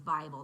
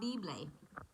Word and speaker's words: Bible: name last name was Bible that would be funny and he didn't miss a beat before he said actually it's pronounced Bob bibley and I was like